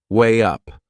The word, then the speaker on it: weigh up: There is another linking sound in that phrase, to weigh up. Can you hear it? We insert a little W sound. Way up.